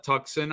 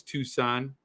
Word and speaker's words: Tucson: to Arizona Phoenix or tuxen I call it tuxen I know it's Tucson and then Prescott is pronounced Prescot Arizona it's spelled Prescott but you